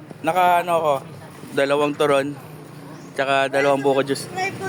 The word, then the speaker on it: turon: Turon turon. Dapat tama yung pronunciation niyo.